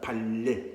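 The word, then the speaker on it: 반례: 우리말로 하면 발예. 반예 아니야. 리을 발음이다. 발예라고 합니다.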